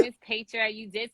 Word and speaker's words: Petra: So my name is Petra. You did say my name right, by the way. I always say Okay. Petra, like paycheck, you know.